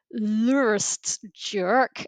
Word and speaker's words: lrtsj: And the reason I'm pronouncing it like that is because it's an unpronouncable word. So the beginning of it is just a string of consonants. So it's l r tsj which you know you can't say.